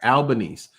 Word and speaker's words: Albanese: Albanese.